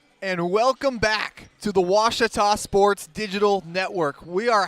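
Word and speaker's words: Ouachita: Searching for Washita Baptist University. Back in Texas, everybody pronounces it Wichita, but really, it's Washita. Washita.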